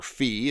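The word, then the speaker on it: φ: to our output if Phi is greater than lambda or fee is a lot of people will pronounce this if V is greater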